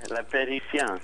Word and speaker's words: La Parisienne: Every time I tell folks about the place, I always say, think of Paris, and then you add the I-E-N-N-E to the end of it. Yeah, La Parisienne.